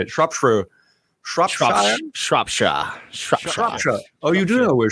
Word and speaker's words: Shropshire: Shropshire.